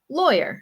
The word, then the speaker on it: lawyer: pronunciation of awogalo lawyer I know a lot of people have uh some some issues with this with this pronunciation especially with the w and the Y sound okay says this is